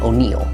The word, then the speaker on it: O'Neill: Consider my own surname, O'Neill, which is sometimes spelled with 1 L and sometimes with a silent E at the end. Today, that's 3 different names, but the sound is identical, and that's what you key on.